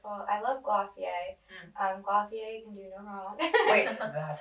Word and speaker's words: Glossier: love everything that they're doing right I love glossier that's how you pronounce it I was but I think they